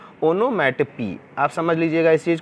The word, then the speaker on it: onomatopoeia: अगला figure of speech है हमारा ओनोमैटोपी। आप देखिए, इसको कुछ लोग ओनोमैटोपिया भी बोलते हैं, ऐसा नहीं है। इसका हमने प्रोनाउंस यहाँ पे लिख दिया हुआ, ओनोमैटोपी।